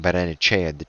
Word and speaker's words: Barrenetxea: we used to manage, his name was Barrenetxea, but you'd say his name Barrenechea, the X for Chi, but I don't think it is Chumetra.